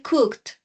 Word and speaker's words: cooked: Cook y para pronunciar para pronunciarlo se dice cooked Cook suena un poco como si fuera un sonido t al final entonces cociné con mi